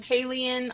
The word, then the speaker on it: Haliene: So I am Haleen on all social platforms, H A L I E N E. And yes, it rhymes with alien.